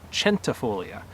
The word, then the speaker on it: centifolia: A person from Italy came back to me and said, no, it's actually pronounced centifolia. Right? And I go, well, okay, I understand that. You're speaking Italian, and Italian comes from Latin, and maybe originally that CH sound was on it, but English is derived in part from Latin, so we would be hearing things like centurion, century, or even just the cents that are in your pocket, as in parts of a dollar.